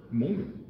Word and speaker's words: Hmong: Ton premier album, Mong, c'est pas difficile à dire, mais il faut bien le prononcer.